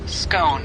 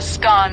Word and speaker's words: scone: The pronunciation of scone. Both scone rhyming with gone and scone rhyming with bone are accepted pronunciations, though regional variations exist.